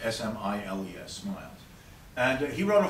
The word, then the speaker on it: Smiles: In fact, one of the best books representing this was a public writer and philanthropist and social critic named Samuel Smiles, spelled like Smiles, S-M-I-L-E-S, Smiles.